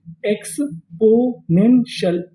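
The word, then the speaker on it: exponential: टी आई एल को हम लोग इंग्लिश में पढ़ते हैं शल। क्या पढ़ते हैं? शल। तो मीनिंग क्या बनी? एक्सपोनेंशियल। एक्सप्पोनेंशियल।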